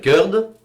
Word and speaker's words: Curd: Je m'appelle Curd, donc ça s'écrit C-U-R-D.